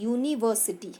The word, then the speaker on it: university: Same यहाँ देखिए UNIVERSITY, इसको हम प्रोनाउंस करते हैं यूनिवर्सिटी। हम इसको यूनिवर्सिटी नहीं बोलते हैं, यूनिवर्सिटी। य साउंड आता है, सो वी पुट अ यूनिवर्सिटी।